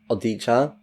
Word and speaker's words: Odia: His name is Darius Odia, which, if his ancestry is Polish and this is a Polish name, then it's pronounced Odia.